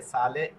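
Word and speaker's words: sale: যেরকম এই যে সালে, সালে হচ্ছে লবণ, এই যে সাপনে, সাপনে হচ্ছে সাবান। হ্যাঁ, তাহলে এস এ আ সা এলে এলে সালে, এস এ আ সা পি অ প এন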